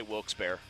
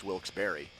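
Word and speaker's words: Wilkes-Barre: raised there say nah we just say wil's bear but I always thought it was Bar Boston in headlines today said bear I think it's Barry I think he's looking at the way it's spelled and just going bear but I think the real ones know it's wils Barry Lancaster or Lancaster uh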